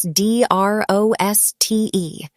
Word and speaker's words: Droste: That's d r o s t e pronounced Droste.